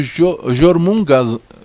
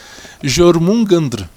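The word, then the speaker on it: Jörmungandr: Por exemplo, o Jormung, desculpa, pronúncia, Jormungandr, escandinavo, ou Haab ou Tanim, os demônios marinhos de lendas judaicas, o craquen norueguês, ou a lendária Hidra.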